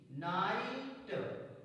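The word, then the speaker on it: night: पढ़ते हैं for example N आई जी एच टी नाइट जी H silent है ना प्लस आई प्लस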